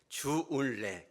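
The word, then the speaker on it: 周恩来: 주울레, 그죠? 주울레인데 이분이 저월라이라고도 발음합니다만은 사실 주울레는 1800년도 말에 귀족 가문에서 태어납니다.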